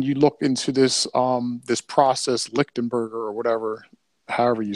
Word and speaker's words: Lichtenberg: when you look into this process, Lichtenberger or whatever, however you say it, it basically